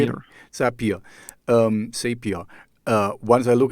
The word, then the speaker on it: Zapier: I have set up later and look into Sapphire. Oh, I don't know how do you say it? Zapier.